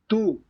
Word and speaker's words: tú: tú, Yeah, and the sound seems to be elongated. So it's not like a short stop, right? It's kind of like extending the sound.